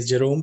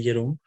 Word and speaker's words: Jerome: Sometimes I say Jerome and sometimes I say Jerome because I live in the Netherlands and here the J is pronounced as Ye.